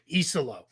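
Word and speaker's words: Iisalo: Iselo is how you say it. It's a double I at the beginning.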